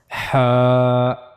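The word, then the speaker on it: ح: As you can see here we have to read it from the middle part of the throat. Ha. Ha. For reading Ha correctly, you have to practice it.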